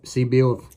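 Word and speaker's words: Sebile: round traps like I do this is a siebel and see see bill that's how you say it that's in a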